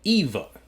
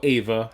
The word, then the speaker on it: Eva: All right, guys, that was Dark Season 3, Episode 3, Adam and Eva. Or Ava, however you pronounce it, depending on where you come from.